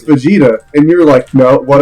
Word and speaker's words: Vegeta: from Dragon Ball Z he kept pronounce his name is fajita and I was like no it's Vegeta in your life no